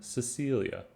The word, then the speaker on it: Cecil: In group B, we have Cedric, which is pronounced with a soft C. In other words, it's pronounced like an S.